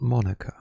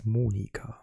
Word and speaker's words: Monika: And, as luck would have it, home to your old partner in crime, Monika Schäfer, pronounced German, because that is her name. It's not Monica, it's Monika.